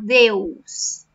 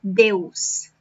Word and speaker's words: Deus: Graças a Deus. My students usually struggle with this word, Deus. So it's not Deus, like Spanish. It's Deus. Open your mouth and then close it.